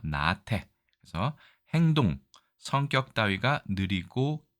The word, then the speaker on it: 나태: 자, 앞 글자가 장음으로 되어 있네요. 나태.